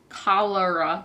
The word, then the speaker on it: cholera: It is Love in the Time of Cholera. Cholera, that's how you say it.